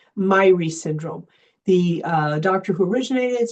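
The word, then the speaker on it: Myhre: So I'm going to tell you about a syndrome that I'm passionate about called Myrie syndrome. the doctor who originated. She's Scandinavian descent. Some people pronounce it Mir.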